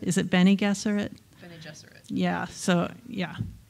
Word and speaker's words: Bene Gesserit: was huge for me and that I always pronounced it bangerra is it Bene Gesserit yeah so yeah it's all about that the